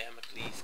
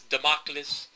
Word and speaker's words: Damocles: See, you have the Atlas key, the Damocles key, the Hephaestus key, the Poseidon key. And I know people are pronouncing it as Democles.